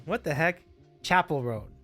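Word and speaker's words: Chappell Roan: Chapel Roan. What the heck? Chapel Roan. Hard CH. I think I was thinking chaperone, but I think it's a harder CH.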